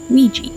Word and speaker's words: Weegee: known by his pseudonym Ouija not spelled like Ouija board but like squeegee because that was a